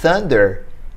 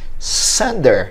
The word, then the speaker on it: thunder: palavra uma possibilidade é em vez de dizer thunder talvez o seu ouvindo ouça um som de s sander e vamos pensar oeste